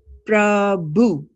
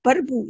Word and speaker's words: Prabhu: Then, what about Prabhu? Prabhu. Prabhu. Prabhu means also God. If we didn't have chota rara, we had vada rara, we would say Parbu. Right? Parbu is not the right pronunciation.